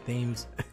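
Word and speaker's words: Thames: me floating face down in the thymes tomorrow themes it's pronounced themes i'm sorry what you're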